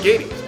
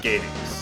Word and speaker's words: Gades: I'm pronouncing it Gades. It rhymes with Hades.